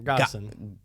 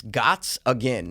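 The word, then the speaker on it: Gottsagen: Gottison. It's Gotts again.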